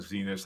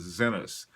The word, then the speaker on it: Zenith: the correct pronunciation is Zenith and I probably should say that because it is a Swiss watch company and that's the way they say it so I'll try to say Zenith from now on anyway